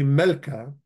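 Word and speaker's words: ܡܠܟܝ: to say my king, it actually just becomes melk. Melk. There's going to be a yod there in the writing, but you're not going to pronounce it.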